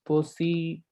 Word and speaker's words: position: So it's going to be position. This is how you need to pronounce. Okay, position, sha.